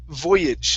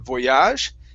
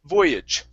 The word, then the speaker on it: voyage: This is voyage. So the stress is at the very beginning of the word instead of the end. Instead of voyage, it's Mm-hmm. voyage.